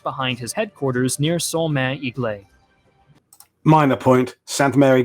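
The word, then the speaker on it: Église: 82nd airborne just behind his headquarters near solman iglay minor point santa mary glees there's an s in the word eglise it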